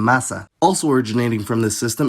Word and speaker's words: massa: If an intervocalic S is single, it’s pronounced [z], like in casa, but if it’s doubled, then it’s pronounced [s], like in massa.